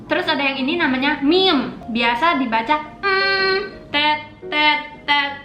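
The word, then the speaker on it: 미음: Terus ada yang ini namanya meme.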